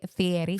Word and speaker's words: Fieri: And you say his name very exotically. Fieri. Fieri. You say it Fieri. Guy Fieri. Hey everybody, I'm Guy Fieri and we're rolling out. I think it's Fieri. He says Fieri.